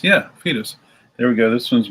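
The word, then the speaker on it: Foetus: the fetus record photos coming up for guys pronounced fetus yeah fetus there we go this one's made in the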